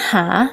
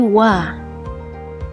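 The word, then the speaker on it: は: partikel yang berarti adalah tapi dibacanya bukan hah tapi Wah misalnya kadewa gak sedes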